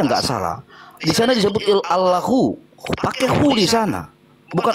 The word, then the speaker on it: Allah: lam lam ha, tetapi A-L-L-A-H, dibaca Allah. Bahkan orang Kristen lah yang paling jujur menggunakan bahasa Indonesia. Beda dengan saudara kita Islam. Ditulis A-L-L-A-H, dibaca Allah, pakai kata wo di sana.